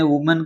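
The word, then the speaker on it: women: आपको बहुवचन बनाने, वुमेन का, ट्रूथ का। वुमन मानी औरत होती है, औरतें, तो क्या करेंगे भी? यहाँ पर ए है, उसको ई में बदल देंगे। इसका उच्चारण हो जाएगा वीमन।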